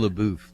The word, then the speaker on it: Shia LaBeouf: How do I pronounce? Shia LaBeouf, the guy from all the Transformers movies.